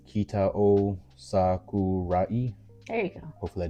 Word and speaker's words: Kitao Sakurai: Kitao Sakurai.